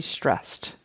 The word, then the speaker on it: stressed: up that middle vowel it should be stressed it's just one syllable in that particular word that Ed becomes a t which is unvoiced like the s that stress ends with so she felt stressed